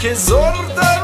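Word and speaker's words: Kyzylorda: Kizorda region, is how you pronounce me.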